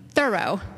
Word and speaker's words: Thoreau: they instructed me in the correct pronunciation of his name thorough before they even offered